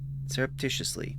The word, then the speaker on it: surreptitiously: We're we're we're getting the pronunciation sur y serreptitiously. Serreptitiously. Uh serot serot serotitiously surreptitiously.